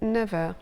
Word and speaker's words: neuf heures: But there are a couple of cases when the F of 9 is pronounced V, a V. Il a 9 ans. He's 9 years old. Il est 9 heures.